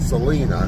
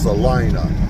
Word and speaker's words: Salina: as Selena Salina Salina I think I want to pronounce it Selena and I've been pronouncing it Selena and I've been wrong every time I've heard it spoken back to me as Salina so say topa TOA